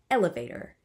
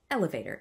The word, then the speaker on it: elevator: So a word like elevator is always trochaic. Elevator, it's not elevator.